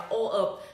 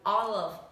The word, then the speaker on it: all of: Tại vì có rất nhiều bạn đọc từ này là o of, thì cô Hằng nói này, từ này không đọc là o of mà từ này là chữ o dài với chữ l. All of.